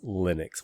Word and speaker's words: Linux: but uh i'm just gonna say the accepted pronunciation by most people is linux which is actually neither name right because it's